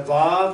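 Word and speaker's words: ו: The yod again equals 10, the hey equals 5, the vav or wa equals 6, and the hey equals 5.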